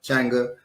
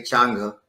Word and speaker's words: Changa: Media's own Changa. I say Changa, but some people say Changa, right? As an African traditionalist, I always say for the A.